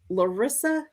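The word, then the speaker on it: Laurisa: Lissa.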